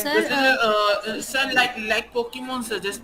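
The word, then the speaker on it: Pokémon: सर जैसे sir like like पोकेमोन सर, जैसे पोकेमोन में छोटे छोटे पोकेमोन्स होते हैं, उनको जैसे उनको क्या करते हैं, एनिमेट करवाना। हाँ वो भी पॉकमॉन कह रहे हो? पॉकमॉन, पोकेमॉन, नहीं सर, पोकेमोन, पॉपकॉर्न नहीं, पोकेमोन।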